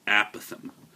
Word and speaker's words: apothem: until I looked it up it's called The aatham Strange word unfortunately a word you're going to